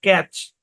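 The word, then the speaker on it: catch: মানে ম্যাচ তারপরে দেখেন সি এ টি সি এইচ এখানে টি টা সাইলেন্ট ক্যাচ ক্যাচ মানে কি ক্যাচ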